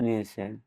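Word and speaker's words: know: ইংরেজি বহু ভাষা থেকে শব্দ নিয়েছে, যেমন গ্রিক, ল্যাটিন, ফ্রান্স, জার্মান। এসব ভাষায় পুরানো বানান ছিল। উচ্চারণ বদলে গেলেও বানান অপরিবর্তিত রয়ে গেছে। উদাহরণস্বরূপ, নাইট, নো এই শব্দগুলোতে আগে কে উচ্চারিত হতো, এখন হয় না।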